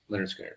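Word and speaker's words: Lynyrd Skynyrd: So Leonard Skinner, pronounced Leonard Skinner. That's actually the name of the album. Okay. Pronounced Leonard Skinner.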